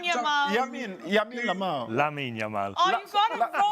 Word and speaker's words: Lamine: It's Yamin Lamau. Lamine. Sorry? Did I get it correct? Gary is chanting for you. You did. Lamine Yamal. Yamin Lamau. Lamine Yamal.